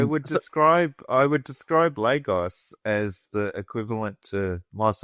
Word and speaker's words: Lagos: But uh that's an insult to logos. Lagos. Lagos. That's how you say it.